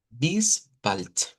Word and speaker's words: bis bald: Esta no tiene mucha diferencia, casi las que la podemos pronunciar leyendo esto de acá, solo que repito, a medida vayamos profundizando nos damos cuenta que esta, por ejemplo, es una U corta, que esta es una I corta, esta de acá.